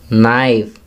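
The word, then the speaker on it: knee: First, नी, के silent है।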